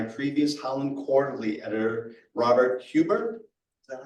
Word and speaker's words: Huber: Laura Salou Mayflower Medal Project was founded by previous Howland Quarterly editor Robert Huber. Is that how you pronounce it?